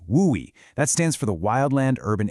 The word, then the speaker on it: WUI: Hayden Park or tucked right up against the foothills, you absolutely need to know about the WUI, which we pronounce woo-wee.